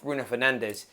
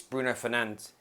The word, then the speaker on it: Bruno Fernandes: It's not Bruno Fernandes, it's Bruno Fernandes.